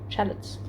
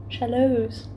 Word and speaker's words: shallots: onion onion but obviously it's shallots or shallots i don't know how to say them shallows the tea is not silent don't say it like that um but yes i